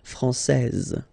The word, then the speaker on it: française: So français, here you get this final S that you don't pronounce, so français, and then when you put this final E here, you will get française, okay.